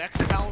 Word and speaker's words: X-Cal: You know what X-Cal rhymes with? X-Cal rhymes with pal.